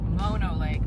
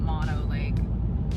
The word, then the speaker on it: Mono Lake: was very informational so I've been pronouncing Mono Lake incorrectly this whole time it's Mono Lake not Mono Lake thank you Visitor Center oh no like